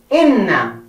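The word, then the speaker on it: إنّ: Our first word for this lesson is inna. So inna has the alif. You write alif and the kasra. I. Then you write the na, and the tashdid and the fatha. I. Inna. Then we go to the next word, the tha.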